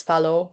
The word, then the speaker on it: Fallot: Um Fallot. I I think the name is French, so technically should be pronouncing as Fallot, but I don't know. I think either way is fine.